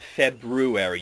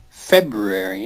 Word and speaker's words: February: Most people don't even realize there's an R in there at all and they spell it wrong as well. So, because they've gotten so used to saying it wrong that they spell it the way it's said. February. Yeah. I just kind of blur the R and the U together.